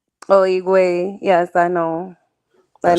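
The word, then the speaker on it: Higüey: I don't know how you pronounce that. Higuey. oh, Igwe.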